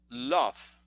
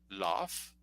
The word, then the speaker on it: love: Or, for example, if you say the word amor, you say love. Love is not correct. The correct is love.